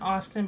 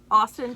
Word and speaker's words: Awsten: Isn't it Austin, but it's spelled really weirdly?